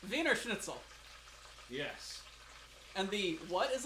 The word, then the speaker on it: Wiener Schnitzel: The W is a V. V. The V is an F. Wiener Schnitzel.